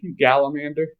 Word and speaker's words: gallander: anything about it so I know they call that machine a gallander spelled like salamander but with a G gallander and there's still one